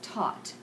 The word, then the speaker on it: taught: a little bit differently we have one of those silent consonants so that's pronounced taught best to teach talked